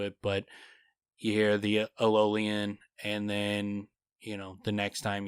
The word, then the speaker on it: Eolian: Eolian? Eolian. You're saying it like ELOL, but it's EOL.